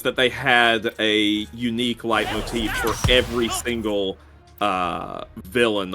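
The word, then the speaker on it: leitmotif: the first one uh it's German so I'm pretty sure it's light Motif thick Rich ride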